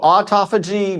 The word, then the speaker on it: autophagy: that again how do you say that so autophagy mitophagy autophagy it's and mitophagy okay so you